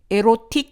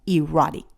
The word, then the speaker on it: erotic: 이로스가 쏜 그 화살에 맞으면 사랑에 빠지게 된다는 거기서 나온 단어 erotic, erotic, erotic 아니고 erotic.